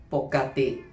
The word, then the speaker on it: ปกติ: meaning however it is more common to say poti in fact do you know that poti originates from the oldfashioned tie word for usually